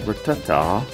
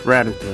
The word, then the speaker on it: Rattata: And there's Rattata. It's Rattata.